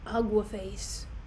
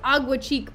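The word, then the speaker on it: Aguecheek: Here he comes, Sir Andrew Aguaface." I'm so hyped. Oh, and his name is Agua Cheek, by the way. He just said the name wrong, blatantly, I don't know why.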